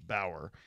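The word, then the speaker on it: Bowyer: His name is Bower, B-O-W-Y-E-R. I believe it's pronounced Bower.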